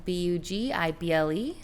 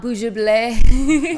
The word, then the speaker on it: Bugible: So I am at Bugible, Bugible. That's how you pronounce it. I wasn't sure how to pronounce it. Not Bugible. Okay. It's like bug and edible. So Bugible.